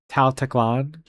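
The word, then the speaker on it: Tal Teklan: We are going to go to the Gem Crab lair to get to Tal Teclan is how you pronounce this city that I'm going to.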